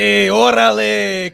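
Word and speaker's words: órale: But orale. Oh, Billy, really? That's how you're going to say it? Sorry. It's orale.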